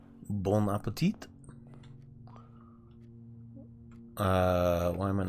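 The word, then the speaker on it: bon appétit: By the way, letters at the end aren't often pronounced in French. So, bonapet is not bone appetite.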